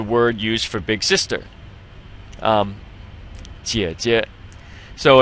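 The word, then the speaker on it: 姐姐: Jie jie. So it's just these 2 together, and you'll notice on the first one there's the 3rd tone, but on the second one it's pronounced neutrally, without a tone.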